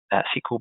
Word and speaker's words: SQL: one of those is the super sequel brute forcer or sql brute force depending on how you want to pronounce this um the sequel brute